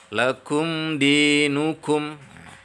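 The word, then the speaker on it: لَكُمْ دِينُكُمْ: Lakum dinukum. Lakum dinukum. Di sana mim sukun bertemu dengan dal. Jadi cara bacanya tidak boleh ditahan, tapi langsung jelas.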